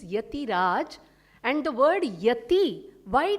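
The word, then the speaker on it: Ethiraj: Etiraj College, we spell it as E-T-H-I, so Etiraj, the actual meaning is Yatiraj.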